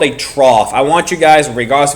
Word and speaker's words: trough: Trough. It's called a trough. It's spelled funny, but it's called a trough.